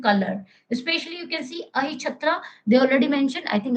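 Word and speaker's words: Ahichhatra: First one is the Achintara, whatever the pronunciation you can pronounce. Okay, Ahichatra.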